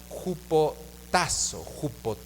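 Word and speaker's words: ὑποτάσσω: Esta palabra sométase viene de la palabra griega jupotazo, acento en la jupotazo, y significa tal cual someterse, subordinar, obedecer, estar sujeto, estar sumiso.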